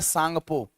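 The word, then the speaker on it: Tsangpo: इसका नाम होता है सांगपो सांगपो सांगपो में टी साइलेंट होता है याद रखना सांगपो और यहां पर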